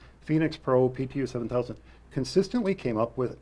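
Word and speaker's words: Phenyx Pro: by the way is not spelled like Phoenix Arizona it's p-h-e-n-y-x Phoenix Pro pto7000 consistently came up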